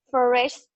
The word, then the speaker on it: flourished: I remember the T sound at the end.